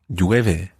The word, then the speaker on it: llueve: Llueve. Okay. There's three sounds there at the beginning. There's the L, then the E, and the U.